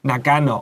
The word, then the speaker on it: Nagano: Nagano. Okay, so when I was young, there was the Olympics, 奥运 in We said Nagano.